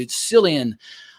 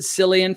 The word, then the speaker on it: Cillian: It's Cillian. I pronounced it Cillian for many years, and then last year in